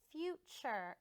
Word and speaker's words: future: its name whew future and the T almost has a CH sound when we say it future silent e and I